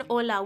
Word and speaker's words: hola: an E Remember that the H in hola we do not pronounce because it's the first letter of the word but there are times that we do pronounce the H remember like in churro?